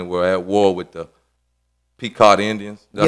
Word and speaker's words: Pequot: of Plymouth County were at war with the Pequot Indians. Did I say that right? On Pequot? You said it right. You said it Pequot.